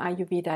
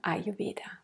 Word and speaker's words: Ayurveda: Aha-Erlebnis, Betonung auf dem A. Das hat Ralf auch noch mal ganz klar gesagt, dass man sich nicht wundern soll, wenn man mal nach Indien kommt, dass dann quasi dort vor Ort häufig vom Ayurveda gesprochen wird. Das zweite A ist wie so halbes stilles A am Ende. Und die Betonung ist eindeutig vorne.